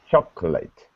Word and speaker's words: chocolate: There's no co, not choco. It's just okay. chocolate. Chocolate. Yeah. Remember, we simply eat extra syllables. So we don't say chocolate. We say, take out the O and say, and change this to an I. Now you've got it.